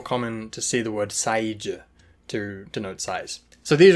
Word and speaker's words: 사이즈: So you should really try and say 사이즈. 사이즈 with 3 syllables, not size with 1 syllable.